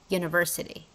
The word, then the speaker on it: university: you can see that this word starts with the vowel letter uh however when we pronounce this word we see that starts with a consonant sound y University and because it starts